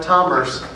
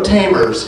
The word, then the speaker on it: Tomers: Tomers, and I pronounced it right, Tomers. No tamers here, we're Tomers.